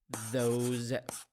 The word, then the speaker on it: those: a tip here the s in these words pronounced as as ze sound those those those these so we have this that